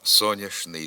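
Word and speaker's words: сонячний: астрономії вимовляємо тільки молочність говоримо соняшний день соняшний Промінь звідки й прислівник сонячно але сонячна система в астрономії вимовляємо місячна ніч але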